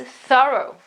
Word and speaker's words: thorough: You just have to add an O after the TH sound. So it's not through anymore, but it is thorough.